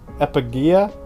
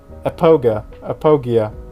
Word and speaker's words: Apogia: That is pretty big, but they still got Epigia? Apogia. That's how you say it.